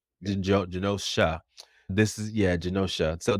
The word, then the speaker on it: Genosha: Morrison's run of X-Men about the island of Genosa. Is it how you pronounce Genosa? Is that how you pronounce it? Genosha. Yeah. Genosha.